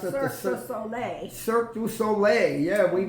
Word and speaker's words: Cirque du Soleil: parking lot, and that was how do you pronounce it? Cirque du Soleil.